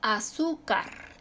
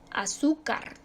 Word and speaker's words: azúcar: se acentúa También tenemos la palabra azúcar azúcar sílaba tónica su sílaba tónica está en la penúltima termina en una que no es digo termina en nr y por lo tanto se acentúa césped también se